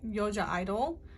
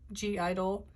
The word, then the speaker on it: (G)I-DLE: reading on soyun from yoja idol i believe is how you say the name but g idol um she's um the